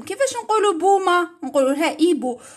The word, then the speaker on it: hibou: هاد الكلمات يتعلم كيفاش نقولوا بومه نقولوا لها ايبو، وتعلمنا الاش في البدايه ما يتنطقش، نقولوا ديريكت الحرف اللي موراه اي. ماركيتو قدرنا الاش بصح ما نطقوهاش نقولوا ايبو.